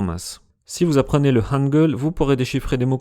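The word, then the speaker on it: 한글: Si on prend le nom de l'alphabet, Hangul, on a deux syllabes, H, A, N et G, E, L.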